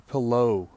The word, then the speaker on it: Pillot: cemetery this is the Palo Cemetery kind of pronounced like pillow but it's below there French don't pronounce it Pilate because you'd be wrong there's a nice historical